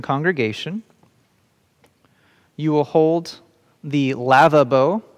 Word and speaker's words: lavabo: you will hold the lava bow sounds like lava bowl this is not a